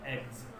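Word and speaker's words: eggs: जैसे हमने कहा एग्स, ये एक्स नहीं है, एग्स, ज लगेगा।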